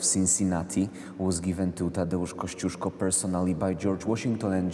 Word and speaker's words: Kościuszko: Kościuszko.